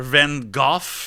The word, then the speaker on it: Van Gogh: Vincent van Gogh? Or Van Gogh, as they pronounce it in the UK.